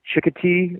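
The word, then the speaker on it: Chincoteague: And then the 19th, I'm going to be in, I believe you pronounce it Chicotee, Virginia.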